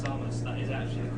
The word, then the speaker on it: Samus: To say, people in the chat who are talking about how he says Samus, that is actually the correct pronunciation of the name as well.